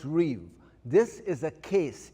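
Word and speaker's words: ריב: It's pronounced riv, R-I-B. It looks like rib. It's pronounced riv.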